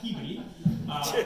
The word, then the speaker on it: Peabody: And my day started in Peabody, Massachusetts, and it's spelled Peabody, but we call it Peabody, which some people think is puberty, which is a whole other process I'm still dealing with, but it started there.